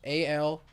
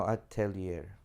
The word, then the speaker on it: Atelier: Altier. No, Atelier.